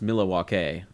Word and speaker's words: Milwaukee: Oh, another, like, one of the great lines is, actually it's pronounced Milwaukee, which is Algonquin for the good land.